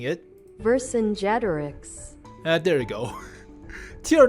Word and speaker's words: Vercingétorix: Vercingétorix, I am not going to pronounce that correctly. Holy crap. There are like 10 syllables. Vercingétorix, Vercingétorix. Yeah, close enough. Stupid American way of pronouncing it. Vercingétorix.